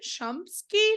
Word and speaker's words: Shumsky: Violette and today my guest is Dr chumsky did I pronounce that right you sure did yay she